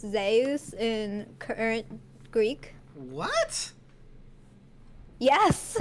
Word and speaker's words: Zeus: that I found out that Zeus is actually pronounced zus in current Greek what yes I am today